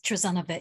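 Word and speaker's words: Trazana: How does she pronounce her first name? Yes, Trezana, yes.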